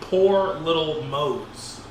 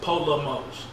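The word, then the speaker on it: Po' Little Mose: I think it's, if you phonetically, it'd be Poor Little Mose. Yeah. But it's Po Little Mose.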